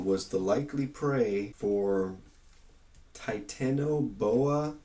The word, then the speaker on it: Titanoboa: A 60-million-year-old relative of the crocodile was the likely prey for Titanoboa, I believe is how you pronounce it, the largest snake ever known to live.